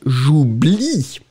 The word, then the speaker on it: j'oublie: But final E is totally mute, so you pronounce j'oublie. But still, the E must be there. J'y pense et puis j'oublie.